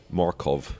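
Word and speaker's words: Mørkøv: to go on so he introduced themselves Michael Markov to me I said Michael Markov we've been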